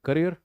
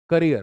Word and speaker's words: career: Start of माई करियर करियर नॉट कैरियर। अभी यहां पे स्पेलिंग लिखेंगे कैरियर will. It's नॉट कैरियर कैरियर होता है जो ढोए सी A double R आई ई आर जो कैरी करे जो साइकिल के पीछे लगाते थे वो कैरियर होता है ये